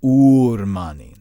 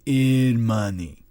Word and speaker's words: Ormani: I've looked into it, and there are all sorts of reports about Ormani who run gambling dens, street games, and other little things that are in fact illegal. No, it's pronounced Urmani, not Irmani.